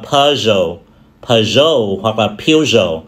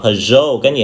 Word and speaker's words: Peugeot: Nó đến từ Pháp, do đó nó có đến 3 cách đọc cái gì ha? Chúng ta có thể đọc là Peugeot, Peugeot hoặc là Peugeot. Phổ biến người ta hay đọc đó là Peugeot, cái gì ha? Peugeot.